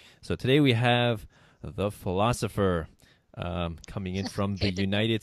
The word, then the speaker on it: Pholosopher: fph ER the philosopher but of course pronounced the philosopher so so you make